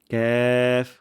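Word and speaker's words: ك: হবে না তারপর ক যেন এমন না হয় কফ কফ হবে না বাংলা বর্ণমালা ক সাথে এটার কোন মিল নেই আর উচ্চারণের স্থানটি হল জিবার গোড়া এবং 13 তার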